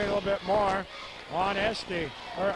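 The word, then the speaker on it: Eigsti: Now maybe we can concentrate a little bit more on Esty or Ice-T. E-I-G-S-T-I. Ice-T is, I think, how they pronounced it for us.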